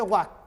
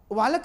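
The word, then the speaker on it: walk: आगे देखिए, तो WL के वाक, वालक नहीं बोलना, TL के टाक, टालक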